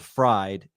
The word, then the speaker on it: Fried: Well, it's German, so you pronounce the second vowel. So that's I don't know why, but that's the reasoning. So you pronounce the E because it's IED.